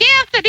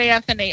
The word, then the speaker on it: Anthoni: It is spelled R-A-H-N, R-A-H-N, and it's not spelled like Anthony either. It's A-N-T-H-O-N-I.